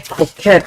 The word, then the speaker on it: Crockett: Crockett, how do you say her name? Crockett? Crockett. Like croquette.